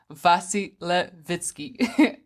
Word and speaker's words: Vasilevitsky: I am joined by Igor and I'm gonna pronounce his name last name correctly vasi Levitsky is it correct yeah okay great and as